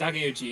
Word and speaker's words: Takeuchi: hand, and cheer on Tamari Shinosuke's main actor, Ryoma Takeuchi. I think it's what it is. Takeuchi, yep. Yep. That's my boy. That's my boy. I always mispronounce his name, but I'll be like, yeah, it's him.